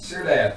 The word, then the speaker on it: Syrdath: And I am playing, how do we say, I pronounce my name again? Syrdath? Syrdath, thank you.